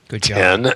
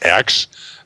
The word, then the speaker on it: X: alternative careers in science the correct pronunciation of factor 10 10 not x that had me grumbling